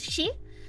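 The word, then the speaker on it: 四: It tails him around because four is uh pronounced the the way you say four in Japanese is she. So it which also sounds like death.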